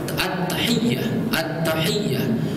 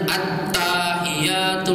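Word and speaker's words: التحيات: At-tahiyyah. Jangan at-tahiyatul. Salah ini. Berarti mengurangi tasdid, menambahkan alif.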